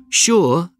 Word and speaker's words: sure: Sure and sugar are the only two words in the English language that begin with S-U and are pronounced sh.